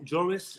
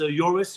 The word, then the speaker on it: Joris: for having me um I like the way you both pronounce my name Jarvis it's joris with a soft J but whatever um I'm